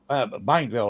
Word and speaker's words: Bienville: Bienville, I believe is the correct pronunciation.